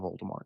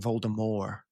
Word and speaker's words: Voldemort: For the first few audio books, Jim Dell kept saying Voldemort instead of Voldemort because it is French apparently.